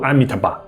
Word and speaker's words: Amitabha: 开头我们说的南无阿弥陀佛，梵语念作 Namo Amitabha。